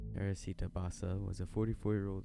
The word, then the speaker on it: Teresita Basa: some weird pronunciation but I looked up how to pronounce her name and it said Teresita it didn't have it didn't have the rolled R and it said Basa so that's what I'm gonna